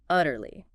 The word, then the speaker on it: utterly: Utterly. Utterly. Utterly. 3 syllables. Stress on the first.